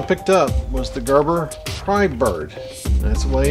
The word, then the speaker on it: Prybird: and what i picked up was the gerber pry bird that's the way it's pronounced it's pry bird now the difference between these two this is